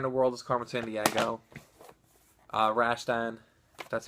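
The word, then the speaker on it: Rastan: Rambo, Afterburner, Where in the World is Carmen Sandiego, Rashtan, that's how you pronounce it, Dead Angle, Zaxxon 3D, Spellcaster, Govelius,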